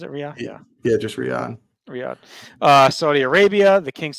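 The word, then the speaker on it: Riyadh: RI RI was it RI yeah yeah just Riad Riad uh Saudi Arabia the King University Stadium uh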